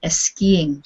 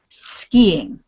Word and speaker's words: skiing: in front of it you said esing this is very typical for Spanish speakers because you would never have an s in your language like that but this is just skiing no s uh no e in front of it okay can you